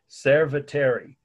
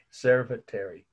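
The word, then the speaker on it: Cerveteri: if it doesn't ignore it as a phonetic mispronunciation of the word sarcophagus and the location is a city in italy serviteri c-e-r-v-e-t-e-r-i again r c-e-r-v-e-t-e-r-i servant terry the date is 520 bc or bc okay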